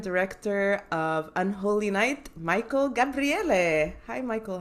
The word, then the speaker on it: Gabriele: And my guest today is a writer and director of Unholy Night, Michael Gabriele.